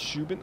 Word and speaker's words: Shubin: Dan, it's pronounced Shubin.